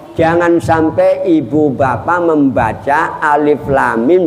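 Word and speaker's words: الم: Contoh, jangan sampai ibu bapak membaca alif lam mim bacanya alama.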